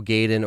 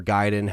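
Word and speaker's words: Gaiden: So, in the early to mid 2000s, I also picked up Resident Evil Gaden or Giden, however you want to pronounce it.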